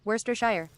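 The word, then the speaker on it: Worcestershire: It has vodka, clamato, hot sauce, and woristersher sauce. I can pronounce that. Worster shire. It's just worester actually like lchester is just l you can learn to say many things.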